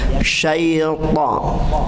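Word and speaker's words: شيطان: Sya, shi, shu. Ya. Jadi nggak boleh gini. A'udzu billahi minasya. Sa itu berarti tidak keluar karakternya. Sifatnya tidak keluar. A'udzu billah. Baik, perhatikan. A'udzu billahi minasy. Kedengaran ya? Sya. A'udzu billahi minasy. Ya, jadi sya menyembur. Kemudian syaitan, ta.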